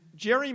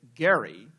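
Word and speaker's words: Gerry: and in particular partisan Jerry mandering which and Jerry mandering apparently is a mispronunciation because of course it is named after Elbridge as he would say Gary um an important Massachusetts politician who was involved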